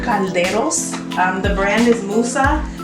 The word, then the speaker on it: caldero: Pronounce that again. Caldero. It's C-A-L-D-E-R-O. One more time. C-A-L-D-E-R-O. Caldero. Caldero. Yes.